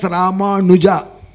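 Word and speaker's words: Rāmānuja: Natvam should come there. You should pronounce it as Ramanuja.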